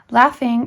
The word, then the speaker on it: laughing: be emphasized lesson 50 laughing is RAR pronounced properly the a being given generally as a prolonged sound of short a as laughing or like ah have it pronounced like a and father illustrate by pronouncing the two words a number of times